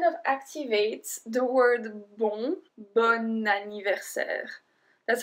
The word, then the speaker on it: bon anniversaire: Bon anniversaire. Bon anniversaire. So I don't say bon anniversaire. I say bon anniversaire. Because we link the bon et anniversaire, because anniversaire starts with a voyelle, it kind of activates